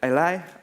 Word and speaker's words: a11y: Accessibility for short if you read that as a11y, for pronounced "aly".